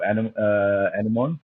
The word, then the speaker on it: anemone: we have a lot of anemone. I pronounce it anemone. Some people say anemone, right?